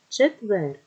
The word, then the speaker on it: четвер: черговий черевики ще превихи четвер вже вверх чайка чайка буква йот завжди залишається в попереднім складом поставимо наголос спонукаємо слово черговий друге слово черевики наголос на третій склад четвер наголос на е Чайка наголос на перше